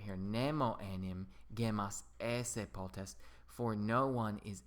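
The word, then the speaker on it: ēsse: eat, edo esse edi, note that that's esse with a long e. You have to watch out for that macron on that particular verb, because notice esse with a long e is to eat, esse with a short e is to be.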